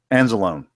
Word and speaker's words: Anzalone: Anzalone.